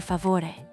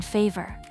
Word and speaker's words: favore: In Italian, uno per me, per favore. It's simple but effective. Uno per me means specifically for you. Thoughtful, listen to the soft V in favore.